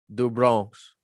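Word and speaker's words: do Bronx: if dustin poirier destroys charles du brons because they pronounce their r's like an h in portuguese and brazil if charles oliveira falls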